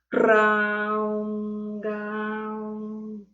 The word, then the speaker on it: Raom Gaom: pueden utilizar el mantra Raom Gaom, que se pronuncia de la siguiente forma. Raom Gaom.